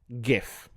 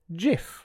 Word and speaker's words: GIF: It stands for graphics interchange format and the word graphics begins with a hard G, a guh.